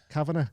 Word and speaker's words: Cavanagh: Cavanagh, is that how you say it? Yes, is you it said like it right. the Irish way? Cavanagh.